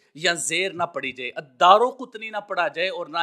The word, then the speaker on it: الدارقطنی: الانساب میں لکھ دیا کہ یہ الدارقطنی لفظ ہے، لہٰذا را کے اوپر زبر پڑی جائے، را کے اوپر پیش یا زیر نہ پڑی جائے، الدارقطنی نہ پڑھا جائے اور